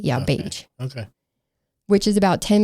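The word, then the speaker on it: Bache: It's spelled When I looked it up and listened to the reportage, it said it was like cage but with a B. Yeah, beige.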